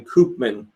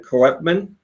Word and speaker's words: Koopman: He says, so he pronounces his last name Koopman. And I guess it's the way this is written makes it sound like it's supposed to be said Koepman.